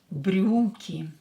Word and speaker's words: брюки: Брюки. Брюки. Ударение на букву U. U is stress.